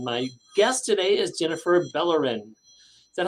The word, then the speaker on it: Bellorin: Central Florida and my guest today is Jennifer bellerin is that how I pronounce that your name yes yes Jennifer bellers